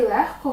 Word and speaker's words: легко: п'ять винятків кігті нігті легко вогко і дігтяро ці всі слова у вимові матимуть х але на письмі звісно вони матимуть г кі г ті ніг